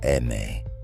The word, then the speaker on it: Eme: They called themselves La Eme, the Spanish pronunciation of the letter M, for Mexican.